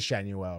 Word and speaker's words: Shenuel: Shanuel. It is Shenuel, right? They always say like say Shenuel on the broadcast like they put a little emphasis on it but he went out to second.